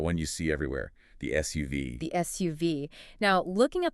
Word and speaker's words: SUV: In English, when we have an acronym like this, we almost always read it letter by letter. So it's SUV. 3 distinct syllables. Yes, UV. SUV.